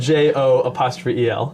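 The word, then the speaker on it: Jo'el: It's spelled JO''EL. Oh, nice. But he just pronounces it Joel.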